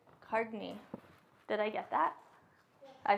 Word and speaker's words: Cartney: C-A-R-T-N-E-Y, Cartney. Cardney.